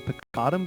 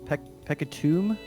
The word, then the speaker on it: Peccatum: I think everybody calls him Peccatum, but I'm pretty sure since it's Latin, the way you'd pronounce it is Peccatum. Like the U is like a long U sound.